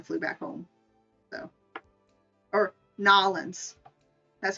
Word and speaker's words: New Orleans: orleans and then flew back home so or nollens that's how you pronounce it now lens it's not a new word it's not new orleans it's knowledge gotta pronounce it like how they